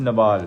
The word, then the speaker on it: Nawal: Is pronounced Nawal. Nawal, not Naval, not Naval, not Naval.